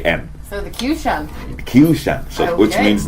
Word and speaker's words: Qshan: So I took the suffix of the word nation, the Tion from the word nation, and spell it like I'm pronouncing it. Shan, nation, Okay. Shan. So the Qshan.